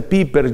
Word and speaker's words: Pieper: escribe pieper pieper joseph joseph pieper se pronuncia piper josep y per tiene